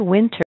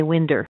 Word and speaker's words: winter: do it two ways you can say winter with a t wi without a you don't say Winder with a D sound the one thing that doesn't work there so wi winter or